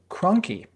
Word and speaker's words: Krahnke: We got your name wrong in our previous episode. Your name is Krahnke.